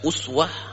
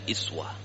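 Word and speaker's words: أسوة: lounge di dalam qiroat ini bisa dibaca Uswah bisa dibaca iswah tab adegan anak fungsi rasulillahi Uswatun iswah nya Hai tapi untuk bacaan kita yang hafsana slim itu membacanya uh Wah kalau nanti tiba-tiba kita dengar ada orang baca iswah itu dibolehkan dalam qiroat ini dia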